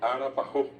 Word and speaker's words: arapajó: El nombre del alfajor en guaraní es arapajó. Y el nombre antiguo, desde que llegó acá el alfajor, que obviamente no es un producto de acá, la gente al pronunciar, lo que consiguió fue decir arapajó.